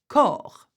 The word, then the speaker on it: corps: Corps, which is a body. See, you've got an S, but we do not pronounce this.